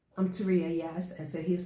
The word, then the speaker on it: Tauria: hear this guy say, "Now my name is pronounced Teria, but if you don't know me and you see the spelling, you call me Toria."